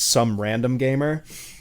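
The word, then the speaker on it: SomeRDMGamer: That's going to be at some Gamer, which is pronounced some random gamer.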